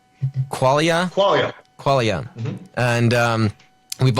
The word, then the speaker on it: qualia: We went through, is it, how do you say qualia? Qualia?